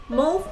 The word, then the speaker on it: mauve: Mauve or mauvey color, depending on how you want to pronounce it, is one of my favorite color stories for the eyes.